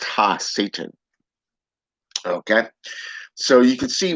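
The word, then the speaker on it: הַשָּׂטָן: outcast okay okay and hebrew his name is pronounced ha satan okay so you can see where he has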